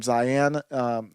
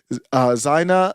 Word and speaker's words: Zyahna: So the incident that happened here with, how do you pronounce the name? Zyahna.